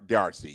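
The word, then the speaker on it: D'Arcy: you say it DRC i' I've heard Dr DRC yes okay yeah I mean like she was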